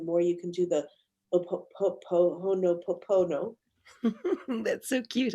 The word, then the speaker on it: Ho'oponopono: the heart, the more you can do the Ho'oponopono. That's so cute how you say that. That one, that one. How do you say it? Ho'oponopono.